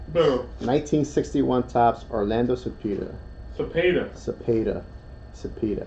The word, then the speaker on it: Cepeda: Cepeda. Cepeda. Cepeda. He doesn't pee, he pays. Cepeda. That's how you say it.